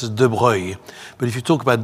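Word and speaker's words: de Broglie: He was a prince and he was French and actually his name is not pronounced de brogley in French pronounced as droy but if you talk about droy in an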